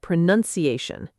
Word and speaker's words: pronunciation: People confuse it with the verb pronounce and accidentally add an extra own sound into the noun form. Just remember, pronounce but pronunciation.